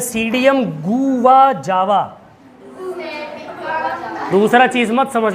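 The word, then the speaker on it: Psidium: और ये जो इसमें देखो, इसमें पी लगा है ना, और यहाँ सीडियम लिखा हुआ है, तो ये पी क्या है? पिसीडियम क्या नहीं पढ़ते इसको, सीडियम क्यों पढ़ते? क्योंकि पी क्या हो गया बेटा? साइलेंट हो गया।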